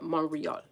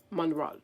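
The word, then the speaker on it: Montréal: Ma- Montreal Montreal or something like that. They don't pronounce the T.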